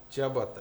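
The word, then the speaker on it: чиабатта: Нет, я вообще им сделал бургер в, как правильно говорить, Чабат? джиабата. Чабата.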